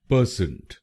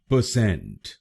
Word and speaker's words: परसेंट: बहुत लोग भारत में इस शब्द को गलत बोलते हैं, जैसे परसेंट। आइए जानते हैं इसकी सही प्रोनाउंसिएशन। इसकी सही प्रोनाउंसिएशन है परसेंट। परसेंट।